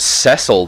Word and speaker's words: Cecil: you wish oh yea they pronounce it sessile don't they Lord Cecil His Majesty bids you